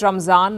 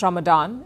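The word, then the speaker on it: Ramzan: for Muslims in India we call it Raman not Ramadan it is based on the Persian pronunciation well whatever you call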